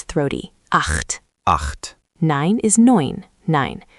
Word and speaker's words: neun: Nine is neun, nine. Sounds like noin.